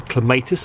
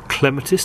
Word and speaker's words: clematis: and pronounce that but it's a clematis or a clematis depending on how you like to say it something or rather